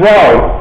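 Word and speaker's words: rho: go very good somebody knows the Greek alphabet row this is a Greek letter r r yeah pronounced like this and it was probably I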